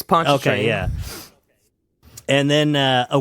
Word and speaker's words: Pontchartrain: answer to be Lake Pontchartrain in Louisiana. Yeah, Lake Pontchartrain. I don't know how to pronounce it. It's probably some That's what it French is. thing. No, it's Pontchartrain.